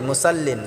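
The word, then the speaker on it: مُصَلِّين: এখানে আমরা অনেকে ভুল করেই থাকি, ফাওয়াইলুল লিল মুসাল্লিন বলি, মুসাল্লিন, এখানে মুসাল্লিন হবে না, মুসাল্লিন, সাদটাকে আমরা মোটা করে উচ্চারণ করব ইনশাআল্লাহ।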